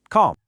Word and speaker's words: calm: That L is completely silent. The right way to say it is just calm. Go on, try it. Calm.